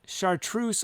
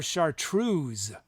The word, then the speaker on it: chartreuse: researched it chartreuse and it can be said chartreuse or chartreuse with a z sound do you have a